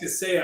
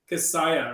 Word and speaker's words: Kaseya: I made like a video back whenever like Kaseya got hit, and I mispronounced Kaseya. I was pronouncing it like Kasaya or something.